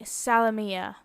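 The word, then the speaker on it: Salomea: Now, my grandmother pronounced it Salome, but I believe that in traditional Polish, it would be Salomia, and spelled that way on the bottom, ending in M-E-A, instead of the above, M-A-E, which Salomia is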